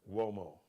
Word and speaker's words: Uomo: Mario Uomo, Uomo's an Italian surname. That's M-A-R-I-O, Mario. U like umbrella, O like Oprah, M like Mary, O like opera, but it's pronounced Uomo, like a W, but it's U-O-M-O.